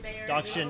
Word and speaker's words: Dachshund: Dachshund is how that's pronounced.